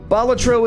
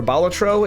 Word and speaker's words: Balatro: I I care for the word is Latin for Jester and the emphasis is it's on the first syllable alab balatro I know